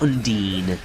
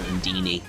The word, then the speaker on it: Undine: Undine, as somebody in the comments in one of the videos very, very loudly proclaimed that I was pronouncing it wrong. So, I will continue to call it Undine now rather than Undini, even though I do